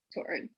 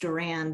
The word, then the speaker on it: Doran: Doran. Well, yeah, often pronounced Doran because of Duran Duran, and that's how old we are. It's spelled differently, but hey.